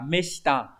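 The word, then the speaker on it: 目下: Mục và chữ hạ viết như vậy nhưng mà khi đọc là meshita thì có nghĩa là người vai dưới. Người dưới có thể là người là chức vụ thấp hơn hoặc là người ít tuổi hơn.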